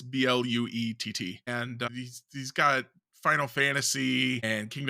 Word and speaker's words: Blewett: The last few, like, not spelled the same way as Scott Blewett. It's Bluett, and he's got Final Fantasy and Kingdom Hearts and a few other series on there.